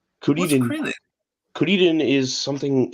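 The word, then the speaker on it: Kuririn: Krillin? Kuriden. What's Krillin? Kuriden is something. It's like a pun in Japanese, but you pronounce it Kuriden.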